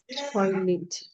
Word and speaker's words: toilet: Toilet. Okay. Yes. Pronounce the last word again. Toilet. Lit. The e sounds a lit.